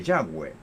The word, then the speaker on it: Yahweh: decir Jehová yo dije Yahweh buena es la pronunciación hebrea de las consonantes del nombre sagrado del Señor por eso en vez de decir Jehová dije Yahweh es lo mismo Jehová es el Eterno